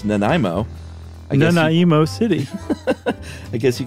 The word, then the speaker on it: Nanaimo: it was Josh had the most hilarious unique pronunciation of uh well I think it's the Nanaimo cookie is correct right yeah what did you say nanay emo okay well you it's got a Japanese Flair